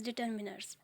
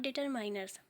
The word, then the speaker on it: determiners: to make sure that we have to read this word as determiners, not determiners. बहुत से लोग इसे determiners read करते हैं जो कि गलत प्रोनाउंसिएशन है. हमें इसे determiner ही रीड करना है.